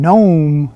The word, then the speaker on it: gnome: in a clever way they put a k in front of it and and it's not pronounced it's a silent k it's not a canoe this here is gnome i have no idea